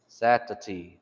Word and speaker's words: Satati: And then Saturday, Satati, Satati, Satati. That's how you would do it. And that's just basically the Choctaw pronunciation of the English.